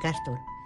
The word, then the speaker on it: Cástor: puse yo el nombre Castor es como Castor pero con acento en la Castor ingresa en el